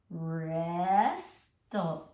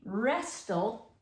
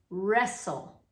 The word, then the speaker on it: wrestle: It's not really wrestle, it's wrestle. We don't pronounce this T in wrestle, okay?